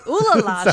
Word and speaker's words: Olalla: That's pronounced Olalla. Okay, Olalla. She goes to the town of Olalla, and she decides that in this town, she dreams of building a sanitarium there one day.